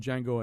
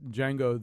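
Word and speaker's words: Django: one of you listed D Jango and chain as a great trailer but when when they do the thing about D Jango the D is silent I thought oh I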